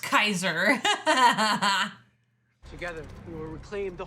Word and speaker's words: Caesar: I love they call In the subtitles, it said pronounced Kaiser.